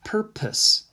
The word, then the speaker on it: purpose: next word is purpose looks like perpose right proposed but it's pronounced purpose purpose purpose let's see what